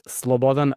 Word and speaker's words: Slobodan: Uh well, Eastern European uh names and Western Europe or or American uh pronunciations doesn't really work well all the time. It's Slobodan Manich, but my nickname and everyone knows me as Sunonny.